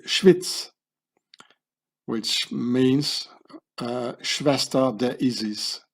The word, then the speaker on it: Schwyz: In German you say Schweiz, but in Swiss German you say Schwyz, which means Schwester der Isis, Schwyz.